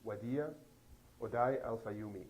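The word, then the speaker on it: Wadea Odai Al-Fayoume: Can you pronounce the boy's full name? His full name is Wadia Odai Al-Fayoumi. Wadia Odai Al-Fayoumi.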